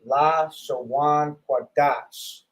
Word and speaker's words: Lashawan Qadash: in the English, this is how you would pronounce it: Lashawan Qadash.